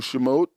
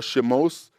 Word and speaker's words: Shemot: And the name for the book of Exodus comes from the Hebrew Shemot, or Shemos, which is how it's pronounced in some translations, which in the English is translated Exodus.